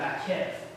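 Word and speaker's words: maqqef: Now, in the construct state, sometimes you will see ish repeated with what's called a makef. Mr. Farrell asked about Hebrew pronunciation.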